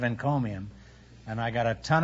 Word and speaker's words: encomium: right there I'm $340 you know I mispronounced it a few weeks ago in the show for some curious reason I said he called him instead of encomium and I got a